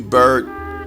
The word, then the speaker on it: Byrd: Shepard and James Bird bird that is even those Byrd is actually pronounced bird as in fly away because one is bird